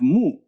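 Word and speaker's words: 木: okay so means person and here we have mu mu okay well write it mu it means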